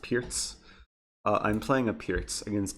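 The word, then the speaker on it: Pirc: Someone wanted a perk. Whoever wants a perk, or it's supposed to be pronounced Pierce.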